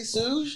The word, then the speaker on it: Souj: It was, did I say Souj? Yeah, it's Souj. Souj. Yeah. Okay, like soul. Okay. Like, soul with a J.